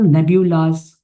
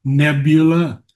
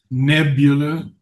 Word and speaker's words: nebula: His personal nebulas constituent stars, satellite companions of his solar eye. I would I would say nebula. Nebula. First accent on the first syllable.